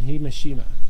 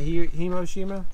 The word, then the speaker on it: Hiroshima: little boy dropped on Hiroshima who Heroes it's not himoshima there's no m in there no they love making